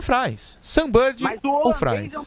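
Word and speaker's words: Frijns: E ele enfrenta Robin ou Frins ou Frains. Qual o jeito certo de falar, mano? Eu costumo falar Frains. Então é Frains.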